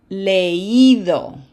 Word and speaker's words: leído: If we just take that le and append IDO to it, that I would join the E in its syllable and it would sound something like leído. That does not sound like a past participle. How do we fix it?